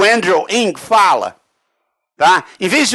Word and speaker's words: Andrew Ng: O Andrew Ng, que é o jeito que a gente pronuncia esse nome impronunciável, tá?